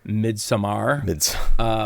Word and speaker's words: Midsommar: So, and keep in mind, folks, we understand that the proper term is Midsommar. We know that's the right way to say it.